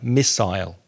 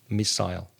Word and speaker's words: missile: know to miss someone that's the pronunciation of miss and then l'll the vowel sound is the same as in aisle or while or y or tri missile missile a grenade is a